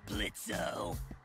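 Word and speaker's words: Blitzø: in it uh-huh sure blitzo the O is silent now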